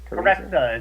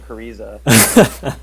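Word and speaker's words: Karezza: Karetsa is how it's pronounced, and that's Karetsa. Italian for. I mispronounce it. Me too. So do I. I think I've been saying Cariza.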